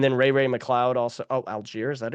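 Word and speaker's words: Allgeier: Oh, Algier. Is that how you pronounce it?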